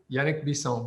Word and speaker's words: Yannick Bisson: thank you yeah now i'd like to welcome yannick bisson am i pronouncing it correctly oh yeah very good yannick bison but that's how my mom would say it